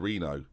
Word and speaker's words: Reno: 16 it's terrifying Peschel Reno which is how it's said to you it's not Renault play someone suggested a